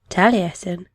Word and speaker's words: Taliesin: first encounter the heroes of welsh legend you pronounce his name taliesin then birth the surname is a title translating